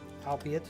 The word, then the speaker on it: albeit: Albeit.